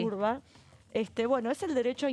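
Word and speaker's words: Wrba: Se escribe W-R-B-A el apellido, pero aprendí este año que se pronuncia así. Urba.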